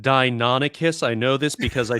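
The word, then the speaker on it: Deinonychus: actually a dia nope d dia no it's pronounced dinonicus i know this because i turn into one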